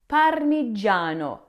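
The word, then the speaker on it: Parmigiano: Then in the syllable g i a j, the gi makes a soft j sound like the j in jam, not a zed.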